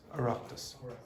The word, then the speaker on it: Oireachtas: Oireachtas.